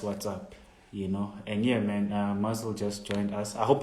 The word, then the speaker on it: Mvzzle: I mean, look, but your stage name is Mvzzle, man. I've never. First of all, am I saying it right? And how did you get that name? Oh yeah, you are saying it right. It's Mvzzle.